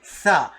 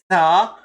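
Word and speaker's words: ث: As I mentioned, you should stick your tongue a little bit out to say this letter Tha. If you are not sticking your tongue out like this, Tha, you are not pronouncing it correctly. You are not making that sound of Tha.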